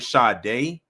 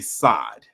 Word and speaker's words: Sade: they're going to say, instead of saying Sade, they're going to say Sade. So I'm just giving y'all a heads up, because I don't want y'all saying, who the hell is Sade?